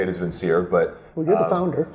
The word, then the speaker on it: Vincere: The way I say it is Vincere, but...